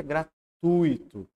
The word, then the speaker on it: gratuito: gratuito a letra C para a gente falar gratuito deveríamos colocar um acento naquele I que não tem portanto é um ditongo e a gente pronuncia gratuito a última em virtude